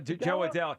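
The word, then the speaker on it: Jo Adell: But I'm like, you know what, that outfield with Ward and how do you pronounce Adele? Joe Adele.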